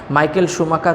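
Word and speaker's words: Schumacher: তাহলে Michael শুমাখার ছিলেন হচ্ছে, এখানে উচ্চারণটা হবে মাইকেল শুমাখার হচ্ছে একজন জার্মান একজন রেসের গাড়ি চালক, যিনি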